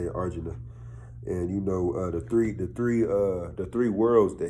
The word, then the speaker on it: Arjuna: in Arjuna, and that's how you say it, Arjuna, and the three worlds, the hellish planets, the I guess you call it the material world planet, and then the heavenly planets.